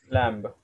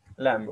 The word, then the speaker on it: lamb: so for example Dam we say Dam yes lamb lamb okay understood D lamb okay so this